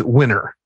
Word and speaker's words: Weiner: name was Bill but it's spelled weiner but he said he insists it's winner so it's like that wiener it's winner but he is a